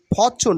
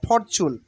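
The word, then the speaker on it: fortune: ফরচুন ফরচুন মানে ভাগ্য ফরচুন নট ফরচুন R will be silent hair ফরচুন ফরচুন ফরচুন মানে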